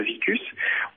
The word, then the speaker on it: Veecus: sont intéressés à faire un prêt solidaire, c'est-à-dire que quand on vient sur la plateforme Vicus, on fait un prêt pour développer le projet de quelqu'un.